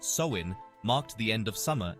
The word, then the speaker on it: Samhain: rich and fascinating history the Celtic Festival of samun is at the heart of Halloween's Origins samun pronounced soin marked the end of Summer and the onset